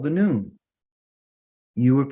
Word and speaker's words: noon: word Anon the next letter is called the noon you would pronounce this word as a n o o